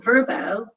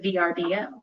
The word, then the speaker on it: VRBO: vie for vacations and we also changed our pronunciation throughout the years we've noticed that many of our loyal friend fans have already started doing this and so our name verbo they've been using it instead of VRBO in fact as a